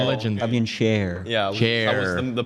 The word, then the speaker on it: Schär: Yeah, Chair. the pronunciation was.